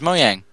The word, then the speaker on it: Mojang: Mojang. No, it's Mojang.